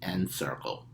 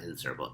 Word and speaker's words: Encircle: n c i r c l e n n circle okay not in circle n circle that's how you pronounce it end circle is an app bear